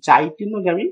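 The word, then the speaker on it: geitonogamy: এই ঘটনাটার কারণ হচ্ছে গাইটেনোগ্যামি। তো গাইটেনোগ্যামিকে অনেক সময় জাইটেনোগ্যামি মানে বুর্গের জ হিসাবে উচ্চারণ করা হতে পারে।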